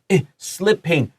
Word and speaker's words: slipping: We have two P's. This is slipping, short I.